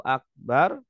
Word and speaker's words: akbar: Allah atau bnya dipanjangkan harusnya Allahu akbar bnya dipanjangkan Allahu akbar kalau bnya dipanjangkan artinya gendang ya harusnya Akbar Maha Besar bacanya Akbar artinya gendang Allahu akbar berarti